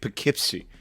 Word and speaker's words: Poughkeepsie: the city of how do you say that Poughkeepsie it's a Native American word it makes something